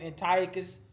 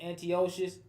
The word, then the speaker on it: Antiochus: So you hear some people pronounce his name Antiochus. Some people pronounce it Antiochus. Some people say Antiochus. Some people say Epiphanes. Some people say Ephanes. These names are pronounced in different ways, but it's still talking